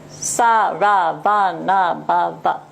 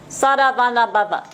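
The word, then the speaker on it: Saravanabhava: I wrote it in 6 separate syllables because I want you to focus on the fact that it is a 6-syllable mantra.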